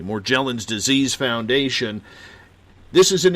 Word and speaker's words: Morgellons: Charles E Holman Morgellons or more gel ins maybe I'm pronouncing it wrong we'll go with soft G because they're going with the soft G more gel ins disease foundation this is